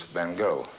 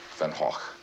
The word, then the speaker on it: Van Gogh: The fact is in the English-speaking countries he's referred to as Van Go. In France they call him Van Go. And of course the proper Dutch pronunciation is Venhawk.